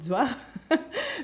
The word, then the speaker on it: Johari: Il y a notre compositeur, arrangeur, directeur vocal, Zohar Rajao Bellisson. Donc ça s'écrit Johari, mais ça se dit Zohar.